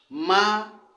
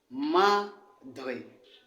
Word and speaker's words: madre: Ici, nous avons affaire à deux syllabes, ma et dre. Maintenant, puisque le mot se termine par une voyelle, ça veut dire que l'accent est ici là. Ça veut dire qu'on lira madre, madre.